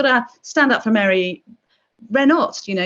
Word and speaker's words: Renault: I've just got to stand up for Mary Renault. You know, you have to pronounce her Renault, not Renault.